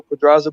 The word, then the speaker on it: Pedraza: fire though, nah, DJ, yeah, that's how you say it though, Pedraza.